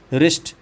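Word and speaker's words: wrist: यही आपका प्लुरल है रिस्ट अब रिस्ट में डब्ल्यू साइलेंट है राइट राइट में डब्ल्यू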